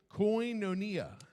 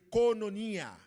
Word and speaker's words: koinonia: This is the Greek pronunciation. Alors, c'est yon mot grec, m'a juste répété ça le dire parce que c'est pour gens le prononcer. Hein. Koinonia. C'est koinonia. Koinonia.